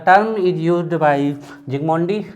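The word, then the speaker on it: Zsigmondy: और क्या किया था जिगमोंडी ने, याद आ रहा, अल्ट्रा माइक्रोस्कोपी, एस साइलेंट होता है, ठीक है, जिगमोंडी।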